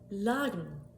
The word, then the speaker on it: Lagen: You know, so I'm putting my hand on my throat right there to make sure I'm getting that sound in there, good and strong.